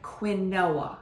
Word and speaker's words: quinoa: Quinoa, it looks like quinoa because it's the Q-U, but you say it like quinoa, K-E-E. Think of that, okay?